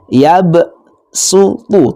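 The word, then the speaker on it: يبسط: Hurufnya terdapat pada lafadz yabsutu, tulisannya shad tapi bacanya sin. Shadnya dibaca sin.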